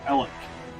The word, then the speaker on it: Alexandria: People in Alexandria, Indiana, don't say they live in Alexandria. They say they live in Ellick.